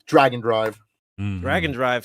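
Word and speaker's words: Drag x Drive: Even though it's spelled Drag Cross Drive, it is pronounced Dragon Drive.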